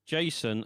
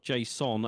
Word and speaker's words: JSON: Someone said it's pronounced Jason like the name, not Jason according to the guy who created Jason.